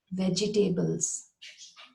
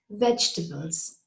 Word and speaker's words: vegetables: Again, I've heard it being mispronounced and the tables being separate, like vegetables. Can you eat your vegetables? That's not how you say this word. It is vegetables.